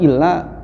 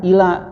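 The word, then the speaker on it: إلا: Tapi yang keliru itu adalah ketika ilanya seperti huruf jar, ila yang artinya kepada. Kalau dibacanya asyhadu alla ilaha illallah, itu berarti kan aku bersaksi bahwa tidak ada Tuhan kepada Allah. Jadi seolah-olah Allah juga bukan Tuhan.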